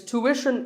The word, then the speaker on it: tuition: like the word tuition it's tuition in American English and tuition in British English so what's the hidden sound here well the first syllable is easy to American or to British but after that it's not ition its mission tuition you have to put the what sound there so tuition word number